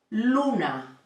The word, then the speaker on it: luna: soul the following one ooh it sounds it's okay it sounds like the word moon in American English Moon and a Spanish word we soon is for example Luna Luna and it means Moon so we have repeat